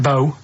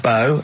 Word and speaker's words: BO: It's not pronounced bow and it's not spout bow. Um, who calls it bow? Everyone knows it's bo.